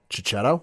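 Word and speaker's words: Checchetto: written by Jonathan Hickman and with Marco and I'm going to butcher the butcher this last name chichetto yep you got it Ultimate Spider-Man what I'm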